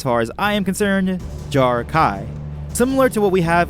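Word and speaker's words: Jar'Kai: as I am concerned Jarrah Kai similar to what we have with who the Sai the second half of jar Kai isn't pronounced with a vowel a but with the vowel sound of AI hints jar Kai but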